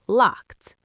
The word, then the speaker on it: locked: Now, locked. Locked. That's a T ending.